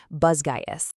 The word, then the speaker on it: Basgiath: Section 1, Welcome to Basgiath, the Deadly War College. This is where our story kicks off, and by the way, author Rebecca Yarros says it's actually pronounced Basgiath.